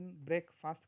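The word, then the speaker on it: breakfast: मुझे तुम समझ sorry ब्रक फास्ट this is the proper pronunciation ब्रेक फास्ट नॉट ब्रेक फास्ट इसको ऐसा क्यों बोला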